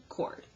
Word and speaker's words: chord: and it's spelled like sure'd okay but it's pronounced cord so this is a segment sir my husband's